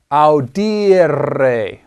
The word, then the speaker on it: audire: You have I-R-E in the infinitive. Audire. And that is a long I there.